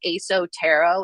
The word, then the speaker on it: ESO Tarot: I would say my favorite person, they are their name is ASO Tarot. It's spelled ESO Tarot.